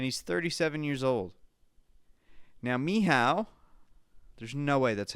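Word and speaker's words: Michał: Actually, I wrote down the phonetic way to pronounce this. It's not actually Michael. It's Miha, apparently.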